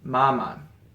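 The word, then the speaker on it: 妈妈: It's the same character, but you'll notice that in the pinyin, the first one is a first tone, and the second one is a neutral tone.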